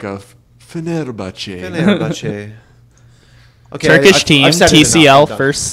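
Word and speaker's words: Fenerbahçe: And then we got Royal Never Give Up, Samsung Galaxy, 1907, Fenerbahce eSport, which is the best name in the group stage. You said it wrong. You said it wrong. Fenerbahce.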